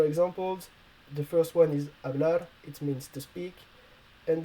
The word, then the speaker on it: hablar: quite easy to understand if the h is alone i mean not with the c before it has to be muted and if it's the ch